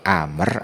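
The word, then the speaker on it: عمرو: sebagai contoh di atas tambahan wawu di situ untuk membedakan cara baca jadi Amr atau Umar kalau bacanya Amr makaah wawu kalau bacanya Umar maka tanpa wawu Apakah berbeda secara jenis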